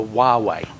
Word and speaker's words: Huawei: you said it's called The W yeah the wuwei wuwei WWE wuwei going right it's Chinese company and it's spelled Hua Wei M those are what's so